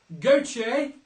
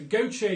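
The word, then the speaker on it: Gotye: That was Gautier, G-O-T-Y-E, but if you spelt it phonetically, that's fine. So Gautier, someone I used to know, and the Proclaimers with I Would Walk, brackets 500 miles.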